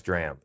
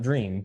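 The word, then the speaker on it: dram: I've got a midwinter nice drram. And not dream. Dr. Not dream. Drram. Okay. Some people pronounce it drum.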